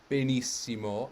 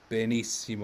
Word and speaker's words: benissimo: piano tronco and so every word in italian has one truly stressed syllable sometimes you have long longer words like for example bennet can become benissimo and yes sure b is still longer than a in benissimo or longer than me in benissimo but is takes the most time it is the stress of the benissimo so a piano word